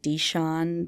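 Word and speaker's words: Dishon: It's I hope I pronounce it right. Don Bakery. It's like D I S H O N.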